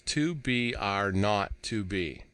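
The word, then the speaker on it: 2BR02B: were supposed to call the zero in the telephone number he pronounced not the number was 2BR not to be it was the telephone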